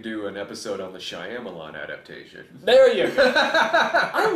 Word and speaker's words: Shyamalan: That way, when it's over, you could do an episode on the Shyamalan adaptation. There you go. I love the way you say Shyamalan.